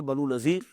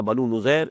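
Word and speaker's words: بنو نضیر: بعد سن 4 میں بنو نذیر یا بنو نذیر، اس کے دونوں تلفظ ہے، ان کی طرف سے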